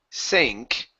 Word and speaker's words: sank: All right, so when you have an ANK or an ANG, okay, the A changes to a long A sound. So instead of saying sunk or rang, okay, it's A, sank, and rang.